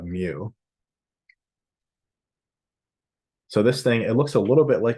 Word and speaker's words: mu: the Greek letter M probably more accurately pronounced moo but if you say moo all the time then people laugh because it sounds like a cow so um so we'll call it mu so this thing it